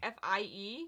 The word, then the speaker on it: Fie: I think her name is Fee. I've been calling her Fee, so if I'm saying it wrong... F-I-E?